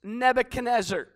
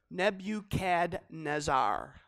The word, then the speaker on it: Nebuchadnezzar: man whose name was Nebuchadnezzar try to spell that twenty-five times when you're writing your message Nebu CAD nazar okay just just phonetically you can sound it out he was the